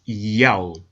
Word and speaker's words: Yao: In order to help the reader pronounce God's name correctly, they transliterated the Most High's name with the Greek characters iota, alpha, omega, written in Greek, pronounced Yao.